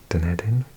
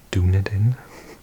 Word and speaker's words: Dunedin: I think I mislearned it originally, and I used to pronounce it Dunedin, as if it's like some word from Lord of the Rings. But it is actually a Gaelic word, or Gaelic word. It's related to the word for Edinburgh, I believe.